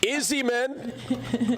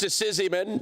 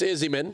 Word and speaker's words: Izzyman: Izzyman. Commonly mispronounced Sizzyman, but it's Izzyman.